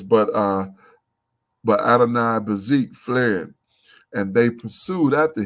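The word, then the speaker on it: Adoni-Bezek: So let's check out this cat's name, Adonai Bazik, I believe you pronounce it. Adoni Bazik. Adoni, that's almost like Adonai.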